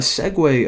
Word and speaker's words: segue: Now, a segue, of course, that's how you pronounce that word.